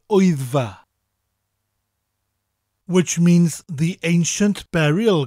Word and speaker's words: Wyddfa: Now, wyddfa sounds like somebody shouting, Oi, it's far away from here.